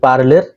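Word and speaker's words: Parler: simply লিখবেন আমি দেখাচ্ছি পি এ আর এল ই আর উচ্চারণ হবে পার্লের তো এই পার্লেরে আপনার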